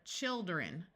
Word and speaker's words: children: sound milder Wilder mildly one important exception where the I does not have a long eye sound is the word children notice when you have one child it has a long eye sound but as soon as you make it plural the I becomes a short ey sound and we